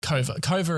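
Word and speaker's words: Kouvr: Kova is how we finally figured out how to pronounce the name.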